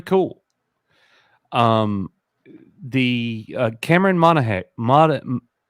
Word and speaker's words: Monaghan: this is pretty cool um the uh Cameron Monahan mod how do you say his last name I read it again Cameron Monaghan he has an interview that just came out